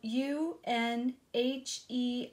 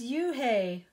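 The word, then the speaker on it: Unhei: no no you and I corrected it spelled you and H II I it's pronounced you and hi oh it's you hey the boy said like you hey what about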